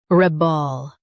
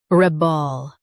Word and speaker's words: rebel: rebel Now read the syllables shown on the screen naturally. reb ol rebel Stress the reb and keep ol light.